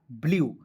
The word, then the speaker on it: blue: लिखेंगे ल लिख दीजिएगा, UE है तो आपको ई के साइलेंट करना है और यू का उच्चारण बड़ा के रूप में करना है, ठीक है, हो जाएगा ब्लू, BLUE ब्लू।